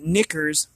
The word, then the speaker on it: Nickur: In this human form, knickers, I'm not swearing here, I promise, it's spelled Nickur.